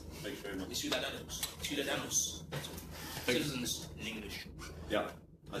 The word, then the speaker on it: Ciudadanos: Pronounce what? Ciudadanos. Thank you very much. Ciudadanos.